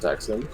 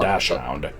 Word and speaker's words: dachshund: No, it's pronounced dachshund. I thought it was dachshund, but yeah, it's definitely not dash hound.